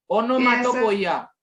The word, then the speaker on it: onomatopoeia: Pronunciation कैसे होगा? ओनोमाटोपोइया।